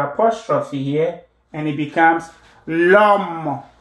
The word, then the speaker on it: l'homme: So you drop the first vowel, you put your apostrophe here, and it becomes l'homme, l'homme. The H is silent, then pronounce the H in French.